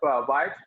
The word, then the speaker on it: Wyatt: It is not like white color; it is white, but still it is pronounced white.